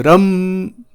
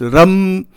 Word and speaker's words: Ram: The Bij mantra is Ram, R-U-M, Ram, right, like this. That is how it is pronounced, Ram.